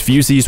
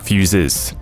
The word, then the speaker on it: fusee: Now, before I see a comment correcting my pronunciation, yes, it's fusees with 2 E's, not fuses.